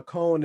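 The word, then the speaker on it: koan: like a to me that's a cone sound right now you know a cone you know what a cone is k-o-a-n i actually might be saying it wrong it's like uh yeah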